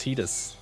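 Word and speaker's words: Tidus: But yeah, it is apparently pronounced Titus per the Oh.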